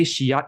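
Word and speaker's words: Scheat: When I say Shiyat, it's spelled S-C-H-E-A-T, not S-H-I-T.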